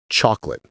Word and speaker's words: chocolate: The word flows quickly. It shouldn't have three distinct beats. It's two beats.